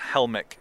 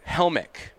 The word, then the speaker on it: Helmich: do I pronounce the last name because I pronounce it I've never heard you say it it's Helmick Helmick man it's probably more like Helmick kind of